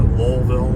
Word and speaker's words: Louisville: Some people pronounce it Lowellville, or I think as you leave the airport, there's a sign of all the different ways that Louisville is pronounced.